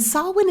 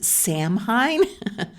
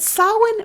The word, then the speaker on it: Samhain: And sawin is that weird word that looks like you would pronounce it samhine. But sawin marked the end of the harvest season and the beginning of winter.